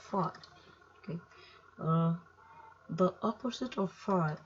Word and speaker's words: phi: So this is right angle triangle, this is where phi is, so this symbol is pronounced as phi.